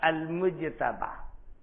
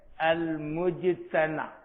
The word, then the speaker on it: المجتبیٰ: گیا، وہ ہے مجتبیٰ، المجتبیٰ۔ بعض لوگوں کے یہاں تلفظ ایسے بھی ہے لیکن وہ مشہور نہیں ہے، المجتنی، المجتنی تحریر اسی انداز کی